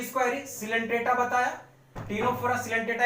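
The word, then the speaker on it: Ctenophora: इसमें होता है सिलेंट्रेटा कॉमा टीनोफोरा, सी साइलेंट होगा, टीनोफोरा एंड इकाइनोडर्मेटा।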